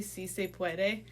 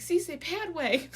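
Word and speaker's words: sí se puede: she butchered the spanish she was supposed to say si se puede and she was like see say pad way i was like see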